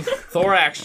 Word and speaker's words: Thorax: Thorax rhymes with Lorax.